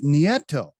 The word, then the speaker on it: Nieto: right almost nieto but you're there whoa it's nieto wow so i i looked you up on